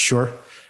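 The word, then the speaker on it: 势: this concept of she it's spelled s-h-i she but i think it's actually pronounced sure or sure which is this positional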